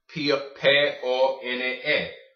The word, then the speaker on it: pone: There's no silent E's at the end of Spanish words. So, how do you say the O? How do you say the E? So, pone. Okay?